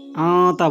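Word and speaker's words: أنت: এখানে আন্তা বলবেন না, আতা বলবেন। এখানে নুন গুণ হবে, হামজা নুন যাবার তা যাবার তা, আতা। আল্লাহুম্মা আতা। রব্বি, রাব্বি বলবেন না, রব্বি রব্বি। আল্লাহুম্মা আতা রব্বি।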